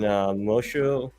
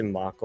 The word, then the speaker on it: Mosho: This is a variant cover done by Ruben Mosho. I always say his name. I say Mako all the time, but it's like Mosho.